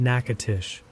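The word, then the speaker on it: Natchitoches: If you're not from Louisiana, that's pronounced Nacatish.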